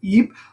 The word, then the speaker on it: Ypres: I'm going to say Ypres. Because my understanding is that's how they say it in Belgium, and it's in Belgium, so there you go. The Battle of Ypres, actually a series of three major battles.